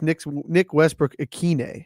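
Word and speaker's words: Nick Westbrook-Ikhine: Yeah, it's Nick Westbrook-Akine. It's Akine.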